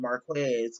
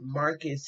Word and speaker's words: Marques: talked in the markets i've been calling him marquez because that's how it's spelled but marcus houston about um his issue